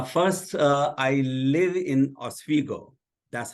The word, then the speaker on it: Oswego: this conversation uh first uh I live in Oswego that's how it's pronounced okay New York and uh I'm a